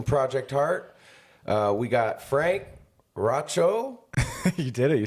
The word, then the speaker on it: Raucho: We got Frank Raucho.